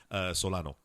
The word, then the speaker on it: Solano: Solano.